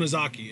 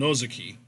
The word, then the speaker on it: Ozaki: that oh no sake it's not own izaki its own Ozaki ok well again see